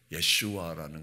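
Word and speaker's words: ישוע: 이 여호수아는 이미 예수의 히브리 발음이 예슈아라는 것을 알 수 있습니다.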